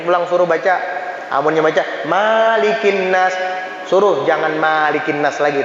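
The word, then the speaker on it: ملك الناس: Jadi nggak ada kalimat Malikin Nas, yang ada Malikin Nas, pendek mimnya, jangan panjang.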